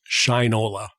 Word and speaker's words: Shinola: make sure I get that right it is Shinola is that correct that's that's how they pronounce it with my props to them for